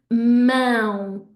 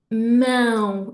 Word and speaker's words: mão: But basically what's happening is I'm not just pushing the air through my throat, I'm pushing air through my nose at the same time to make the sound, both ends, okay? So the word for hand is mão, mão.